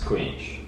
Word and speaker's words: Skujiņš: you can activate so my last name is pronounced squeak squeak yeah thanks for having